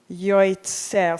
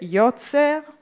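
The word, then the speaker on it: יוצר: So when we look, I look at the word yotzer, yoitzer. So in the Ashkenazic pronunciation, we wouldn't just read it yotzer, it would be yoitzer.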